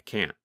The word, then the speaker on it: can't: In fact, in the negative form, because the tongue and voice stop, there is almost no sound of the letter N.